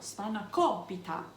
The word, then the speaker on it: Spanakopita: put spinacholpita together and that's how you say it too you have to put the accent on the right syllable spanakobita okay so before you